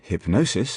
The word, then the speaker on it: hypnosis: So, in hypnosis, for example, the middle syllable receives accentuation.